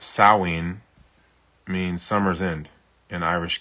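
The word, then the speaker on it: Samhain: SH or pronounced sawin means summer's end in Irish Gaelic.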